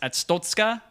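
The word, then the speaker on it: Arstotzka: Papers, Please is you play, I think it's pronounced Atstotska.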